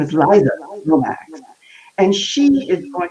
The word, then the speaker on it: Liza: We're going to talk about that because I was mispronouncing it, and you said, "Oh no, it's Liza."